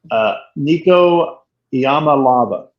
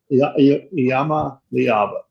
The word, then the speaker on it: Nico Iamaleava: Nico Iamaleava. Iamaleava.